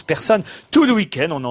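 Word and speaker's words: Pärson: Voilà, et elle s'appelle Persson, pas P-A-E-R-S-O-N, mais ça se prononce Persson.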